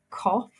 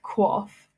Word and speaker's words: QOF: it stands for and I was pronouncing it cough not quaff and the first thing